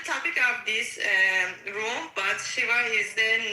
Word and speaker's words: Shiva: Not pronounced Shiva, it's pronounced Shiva.